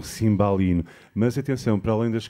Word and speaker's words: cimbalino: as meninas no porto não se diz cimbalino mas sim Simbal e não não é o a tem que ser aberta é um cimbalino mas atenção para além